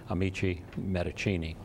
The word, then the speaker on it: Amici Medicinae: and that is that we have gone to the Italian pronunciation, to the Latin pronunciation, actually. And so henceforth, we will be called Amici Medicinae.